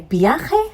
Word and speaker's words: viaje: Now, this viaje is ending with a vowel. That means the stress is falling on the last but one syllable.